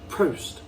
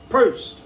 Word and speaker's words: Prost: It's spelled P-R-O-S-T. So I suppose as English you're going to go Prost, but I think there's almost like there's the missing R, so like it's like a Prost. Prost.